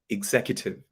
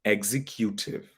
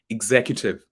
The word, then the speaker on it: executive: part of our example often so the correct pronunciation is executive executive people pronounce it as executive people actually put the stress on q yeah